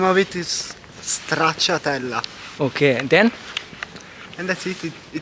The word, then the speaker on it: Stracciatella: Try to pronounce it. Stracciatella. Completely wrong. Okay, The okay. real name of it is Stracciatella.